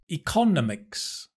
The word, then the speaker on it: economics: Economics. Economics. It should be economics. Economics. Not economics, right?